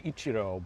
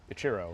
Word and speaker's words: Ichiro: You could also say Ichiro, but that's what my mom says. But Okay. I answered everything. Ichiro is how I pronounce it.